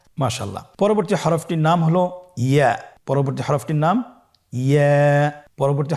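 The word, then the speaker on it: ياء: পরবর্তী হরফটির নাম হল ইয়া। পরবর্তী হরফটির নাম ইয়া। পরবর্তী হরফটির নাম কি? ইয়া। ইয়া হরফটি উচ্চারণের ক্ষেত্রে বারিক হবে এবং এক আলিফ টেনে পড়তে হবে।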